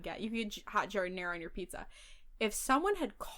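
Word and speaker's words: giardiniera: Okay, I don't even like jardinera, but I know you're saying it wrong. I know, right? Like, I'm trying to be a better person. I'm trying to be better and actually saying jardinera.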